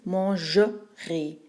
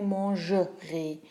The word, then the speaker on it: mangerai: a un futur simple, le ER tombe au milieu du mot et ça devient un peu plus muet. Alors ça veut dire mangerai. On ne prononce plus et manger, mais mangerai.